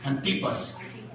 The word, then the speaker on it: Antipas: Su nombre, ¿lo dije bien? Sí, porque no tiene acento, ¿verdad? Antipas. Sí, porque entonces si es Antipas llevaría un acento en la A, ¿verdad?